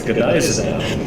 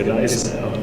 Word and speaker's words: Gneisenau: It's Godiza now. What? Don't worry, I learned how to pronounce it right too for the first time. It's German. It's the Godiza now.